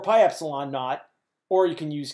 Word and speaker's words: epsilon nought: right here epsilon nought you pronounce that epsilon nought it is an epsilon of side of the e it's an epsilon and that Sub Zero you just say epsilon naught that is equal to